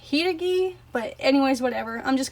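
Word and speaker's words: Hiiragi: But in the English version, they call it the Haragi, even though it's pronounced Hiragi.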